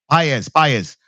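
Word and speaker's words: Pages: Yeah, Paez.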